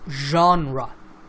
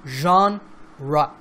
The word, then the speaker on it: genre: style of art music literature or film it's pronounced genre genre Shondra now some movie genres can be drama